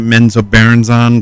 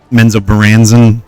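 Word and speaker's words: Menzoberranzan: I always pronounce it meno barons on, but Menzo Baran I guess is the correct ter correct way to say it.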